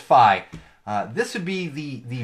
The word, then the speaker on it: Fi: Google Phi Google Phi I always feel like I mispronounce it because it's either fee or five but it's Phi this would be the